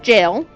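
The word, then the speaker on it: gaol: But I am going to stumble over that word just because I know it's pronounced jail.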